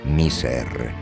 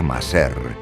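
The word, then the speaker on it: مصر: El hebreo Mazor se conserva en el árabe miser, que se pronuncia maser en el dialecto vulgar de Egipto.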